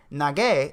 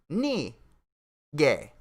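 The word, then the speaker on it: 那个: a pause between syllables so instead of nagey it's not gay it's not nige it's knee gay good thing for the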